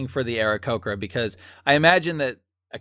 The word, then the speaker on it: Aarakocra: Yeah, an Aarakocra, and all black feather, kind of looks like a raven with blue eyes.